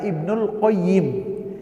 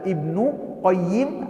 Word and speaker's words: Ibnul Qayyim: Jadi, sehingga para ulama mengatakan kalau tampak Aljauziyahnya cara bacanya Ibnul Qayyim. Tapi kalau Aljauziyahnya di bawah, maka alif lam terhadap al-qayyimnya itu enggak ada. Ibnu Qayyim Aljauziyah.